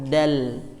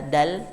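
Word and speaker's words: د: Ya, jadi bunyinya kalau kita sering ucapkan dalam alfabet Indonesia itu D, domba. Ya, hanya saja kalau D biasanya pengucapannya itu ada hamesnya. Nah, kalau dal ini dia tidak hamas, melainkan hanya menempel. Dadidu. Jadi tidak da. Jadi tidak disertai hembusan.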